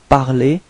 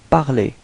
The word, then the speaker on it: parler: Okay, well, pronunciation is the same, parler, parler.